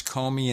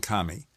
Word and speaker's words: Comey: James Kami online and one site had both pronunciations Comey and Kami all right so whatever